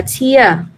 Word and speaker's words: tear: từ này tụi em chú ý nè, từ tear này nó cũng đặc biệt. Từ này nó có hai cách đọc. Bây giờ khi mà nó có là một danh từ á, thì mình sẽ đọc là tear.